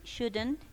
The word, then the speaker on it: should: Por favor, recuerde bien que para el tema de pronunciación omito la L en ambos casos, ¿no?